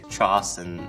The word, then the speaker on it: Charleston: So you need to learn a few basics like how to pronounce Charleston with that soft cha and you'll fit in faster than you think. Charleston, South Carolina, which is m like this.